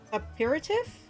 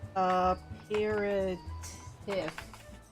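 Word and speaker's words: apéritif: But what good is an exotic feast without an equally exquisite aperitif? What is this word? Aperitif.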